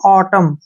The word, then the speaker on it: autumn: तो इसको हम क्या पढ़ेंगे, AU का उच्चारण जो है अ के रूप में करेंगे, और TU का उच्चारण ट होगा, और M का उच्चारण मैं होगा। N का उच्चारण हमने नहीं करना है। इसको पढ़ेंगे हम ऑटम।